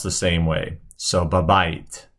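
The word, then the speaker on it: בבית: So it's going to be spelled either way at times, but it's pronounced the same way. So babait, babait.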